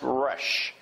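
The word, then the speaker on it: ריש: Hebrew letter is pronounced rush but it's it's like a r sound in our English you can see there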